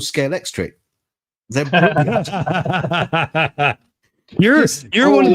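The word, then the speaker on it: Scalextric: They're called Scale Electric.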